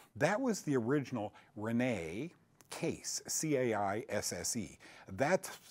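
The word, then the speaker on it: Caisse: That was the original Renee Case, C-A-I-S-S-E. That's spelled backwards, not Renee, but Case spelled backwards is SEAC.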